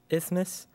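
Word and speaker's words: isthmus: spell a word that rhymes with Christmas that indicates a narrow strip of land Peter is ismus i s t h m u s all right good job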